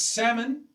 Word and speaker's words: salmon: Nor is it yeah, it's salmon, silent L, but it's solder.